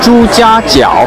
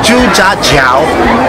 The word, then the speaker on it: Zhujiajiao: So we are in this water town that I still don't know how to pronounce the name. Zhujiajiao. Zhujiajiao.